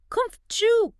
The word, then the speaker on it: comfortable: And the ta gets swallowed, very similar to vegetable, so it becomes kumf-chu. Kumf-chu. Much faster. Kumf-chu. Think about why. The stress is on the first syllable, right?